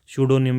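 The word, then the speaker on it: pseudonym: है correct incorrect में पी एस ई यू डी ओ एन वाई एम सडोनियम इसको बोला जाएगा अगला है आइकोनोक्लास्ट स्पेलिंग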